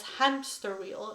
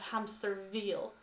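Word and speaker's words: Hämsterviel: His name is usually mispronounced, much to charge, usually as hamster wheel instead of hamster veal.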